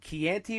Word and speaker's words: Chianti: key key yeah and somebody said it's actually Chianti or something like apparently he mispronounced